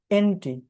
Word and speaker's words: ante: আর একটা হচ্ছে status quo এন্টি। এই এন্টি মানে কিন্তু ওই যে উচ্চারণ কিন্তু এন্টি না, মানে বিরোধী না, ANTE, এন্টে, এন্টে।